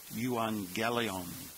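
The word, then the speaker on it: εὐαγγέλιον: 11 is the noun euangelion you see Evangelical there the two gamas together have the pronunciation of NG so we will pronounce this yelon the genitive is yuelu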